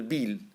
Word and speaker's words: Beall: वी had visiting us at this time a nervous first cousin of mine named BRICS बील, BEALL, बील. हम लोग इसको pronounce करते हैं बील, ठीक है.